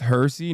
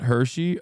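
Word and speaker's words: Hirsi: It's pronounced Hersy, not Hershey.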